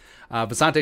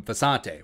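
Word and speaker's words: Visanthe: Visante Shanko was a beast. I probably spelled the name wrong. So for a long time, everyone just called him Visante, whether it's TV, whether it's PA, whether it's whatever.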